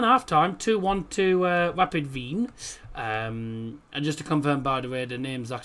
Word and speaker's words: Wien: Um because for anyone who doesn't understand if you're in Austria um if you if you're German uh the German name for Vienna is fine.